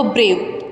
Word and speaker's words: beau: बो instead of a brave, कि उनको उनके इंस्क्रिप्शन में बो बता दिया गया, BEAU इज प्रोनाउंसिएशन इज बो।